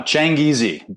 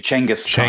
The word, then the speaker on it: Changizi: your last name correctly uh Chang easy it's actually Changas the word for Genghis Khan as Persian for Genghis